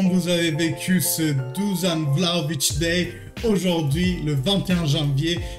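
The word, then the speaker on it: Vlahović: Oh, on m'a dit que ça se prononce Vlahovic.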